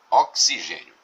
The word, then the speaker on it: oxigênio: O que acontece com a palavra oxigênio? Nós temos aqui essa letra X que representa um dífono, ou seja, a letra X aqui é pronunciada como se fosse um KS.